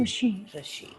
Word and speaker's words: Rishikesh: like the sound in the word rishi, ritu, rishikesh. We say no? Rishikesh, rishikesh. That r. Don't look at the English word. English is R-I-S-H, but in fact it is R-S. It should be like that.